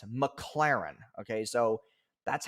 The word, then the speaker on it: McLaren: The McLaren isn't rented.